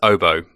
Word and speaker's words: Oboe: it's funny about the pronunciation so the correct pronunciation is oboe as in after after the musical instrument oboe